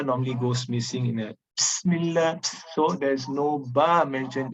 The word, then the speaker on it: Bismillah: Okay, so the common mistake here is omitting ba in the pronunciation. It should be Bismillah, not Bismillah. There's no ba. So Bismillah.